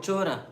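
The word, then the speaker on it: चोर: Chora. Chora. Thief. And there's a footnote that actually in Yashoda's dynasty, there was a thief called Chora Ghosh, Gopa. To this, Sri Krishna replied, "Mother, there is no Chora in my dynasty.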